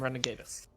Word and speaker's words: Renegatus: for the Renegades or how does that pronounced good renegade us renegade us yes team renegade us oh man yeah looks